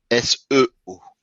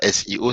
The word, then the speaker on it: SEO: SEO. et non pas SEO, c'est juste prononcé à l'anglaise.